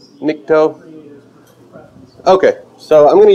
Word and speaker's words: Nikto: Are any of you familiar with Nikto? I don't know how to say it. Do you know how to pronounce that? You can go either way. Nikto.